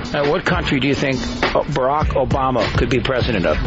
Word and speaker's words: Barack: Add to all this that Barack rhymes with Iraq.